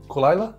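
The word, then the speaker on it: Caol Ila: original does call for cool cool isla callayla i believe it's pronounced which is the 12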